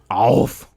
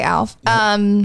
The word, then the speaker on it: ALF: Alf. That is the correct pronunciation, but we never got it right. Alf. But Americans say Alf.